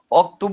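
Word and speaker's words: اكتب: হুজুর এখানে অকরা অক্তুব বলবো নাকি? হ্যাঁ, অক্তব বলতে হবে, কারণ এই হামজাটা লেখায় আসছে কিন্তু উচ্চারণে।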